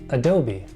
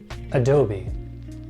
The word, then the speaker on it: Adobe: making Photoshop illustrator Premiere Pro and this you pronounce as Adobe Adobe Adobe here's another company with a name that's not